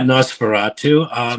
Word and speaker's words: Nosferatu: Nosferatu. Did I say it right? Yeah, Nosferatu.